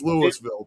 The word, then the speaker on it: Louisville: the exact same name, but that's not how we pronounce it over here. It's Louisville. Period."